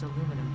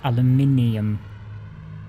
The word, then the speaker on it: aluminium: Nitrogen will contribute to more advanced aluminum parts. You say it wrong, Ada. It's aluminium.